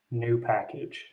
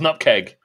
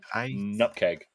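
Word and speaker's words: nupkg: so the next question is how do you pronounce nkg new package oh whatever package um is that is that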